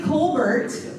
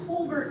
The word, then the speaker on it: Colbert: wasn't my slide okay it's actually Colbert Colbert without the cold it's Colbert spelled like Stephen Colbert but the Texas pronunciation so Paul and I